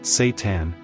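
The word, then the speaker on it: seitan: If you've never heard of it, Satan, pronounced Satan, is often called wheat meat.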